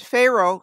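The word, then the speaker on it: Faroe: a look at them and pharaoh spelled f-a-e-r-o-e sounds phonetically like the word pharaoh or the title given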